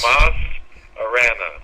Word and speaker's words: Tomas Arana: Well, I can help you with the pronunciation of my name. It's Yes. Tomas Arana. Tomas. Okay. There we go. It's Tomas, everybody.